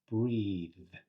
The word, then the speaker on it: breathe: But it's still a voiced th sound, right?